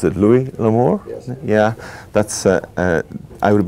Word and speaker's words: Louis L'Amour: How do I pronounce it? Louis L'Amour?